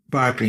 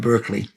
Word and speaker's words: Berkeley: beginning like Ser Scott notice how I'm pronouncing it Barkley not Berkeley in the English Barkley sois Barkley was